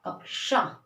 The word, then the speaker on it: कक्षा: हम स्टार्ट करते हैं, जैसे हमने लिखा क्षत्रिय तो हम इसको छ बोलेंगे। लेकिन अगर हम लिख रहे हैं कक्षा तो आवाज आएगी अ और क, कक्षा। देखिए तब इसका प्रोनाउंसिएशन अलग हो रहा है, उच्चारण। यहाँ पे हमने इसको पढ़ा क्षत्रिय और यहाँ पे हम इसको पढ़ रहे हैं कक्षा। कक्षा यानी क की भी आवाज आ रही है और